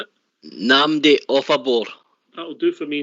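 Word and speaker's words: Nnamdi Ofoborh: How are you pronouncing it? Namdi Offabor. That'll do for me, Namdi Offabor.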